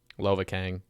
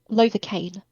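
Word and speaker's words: Lovakengj: I swear to God, like this Okay, is how do you pronounce the yellow one again? Lovakang. Lovacaine.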